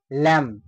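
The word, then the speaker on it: lamb: উচ্চারণটা কিন্তু সাইলেন্ট হয়ে গেল টুম হয়ে গেল ল্যাম এই যে বি এর উচ্চারণটা পুরোপুরি বা সাইলেন্ট হয়ে গেল এইগুলো বেশি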